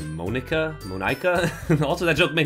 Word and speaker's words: Monika: That's not how you say my name at all. What? What is it? Monica.